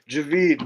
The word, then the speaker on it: Javed: David it's called you Javed anyway now screw you your name is javeed man I don't believe you know how to pronounce it correctly all right Essen wrist